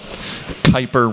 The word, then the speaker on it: Kuiper: as the kuiper belt kuiper rhyming with viper gerard kuiper was an